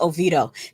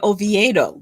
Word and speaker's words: Oviedo: we'll know these people oh vido oh it's pronounced ovito you see the i keeps messing me up i keep wanting to say oviedo because there's an eye in it so it's